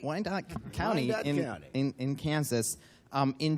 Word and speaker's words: Wyandotte: Mark, you became the prosecutor, and I'm not going to be able to pronounce Wyandotte? You got it right. Wyandotte County, Wyandotte in Kansas in January.